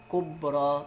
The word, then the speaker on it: كبرى: رضوى، جرحى، كبرى، صغرى، حبلى، نطقتها ألف ما نطقتهاش ياء.